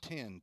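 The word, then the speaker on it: Then: two strikes to Wilson 10 t-h-e-n pronounced like the number 10 breaking pitch misses inside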